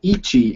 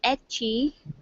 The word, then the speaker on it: ecchi: This person's looking for some good Ichi anime series. E-H-I. I hope I'm pronouncing that right. Yeah, I call it ecchi, because I pronounce Japan words phonetically.